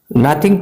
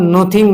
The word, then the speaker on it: nothing: नथिंग टू do with means लेना देना। इसको हम नथिंग को हम नोथिंग नहीं बोल सकते, इसका सही प्रोनाउंसिएशन होता है नथिंग।